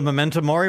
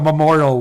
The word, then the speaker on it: Memento Mori: Yeah, I was calling it the Memorial World Tour. It's a Latin phrase.